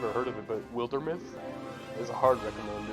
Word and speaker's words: Wildermyth: I don't know if you've ever heard of it, but Wildermyth is a hard recommend. It's, I highly recommend looking into it. It's spelled like wild, and then myth, like a mythos, you know.